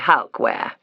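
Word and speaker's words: Halkwaer: H A L K W A E R. We say Halwear.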